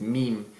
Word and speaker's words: meme: One thing I want to say before I go is that just because the original pronunciation in English is meme, it doesn't mean that people when they speak Spanish should say, "Ay, mira estos memes que tengo."